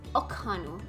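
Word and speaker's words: Ok'hanu: Okanu.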